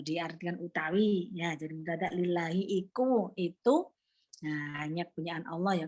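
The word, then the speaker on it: لِلّٰهِ: Kalau diartikan utawi ya jadi mendadak lillahi itu nah hanya punyaan Allah ya punyaan Allah lillahi. Ya kalau li ya bisa hi tapi lillahu salah dia bacanya tapi dia tidak merubah makna.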